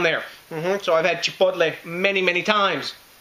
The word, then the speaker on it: chipotle: And that's right, I am saying chipotle. If you think I'm saying it weird, learn some Spanish, guys, because that's how you pronounce chipotle, not chipotle or anything like that. It's chipotle.